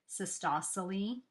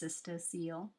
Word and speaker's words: cystocele: that is cystocele I just learned how to pronounce that word all these years I've been saying it in my mind as cystosoly it's cystocele c-y-s-t-o-c-e-l-e um the next one is constipation hemorrhoids